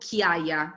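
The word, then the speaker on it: Chiaia: it for you guys it's called kia c h i a i a again because it's i know it sounded wrong but it's it's true c h i a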